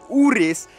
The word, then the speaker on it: Urus: It's pronounced Urus.